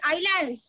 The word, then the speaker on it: islands: I mean islands, S is silent.